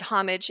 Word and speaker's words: Homage: And for those of you who are not familiar with Homage, saying the word homage is the most confusing thing. So we pronounce it Homage Senior Services.